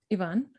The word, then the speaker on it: Ivan: uh yes thank you yvonne or ivan how do you say your name ivan okay so ivan journalists